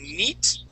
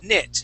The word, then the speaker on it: knit: So instead of saying neat and using the French I sound, what you want to say is knit. That is a short I sound.